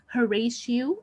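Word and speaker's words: Horatio: marries his brother Claudius the following character is htio and you should know how to pronounce his name correctly htio he is Hamlet's best friend he is the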